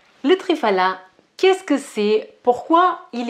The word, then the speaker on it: Triphala: Triphala, c'est du Triphala, parce que le nom il vient du sanskrit et le PH, on le prononce pas comme un F, mais plutôt comme un P avec un P avec un petit peu de vent, d'air.